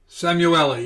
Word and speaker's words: Samueli: He is a senior, is it pronounced Samueli? Samueli, yes.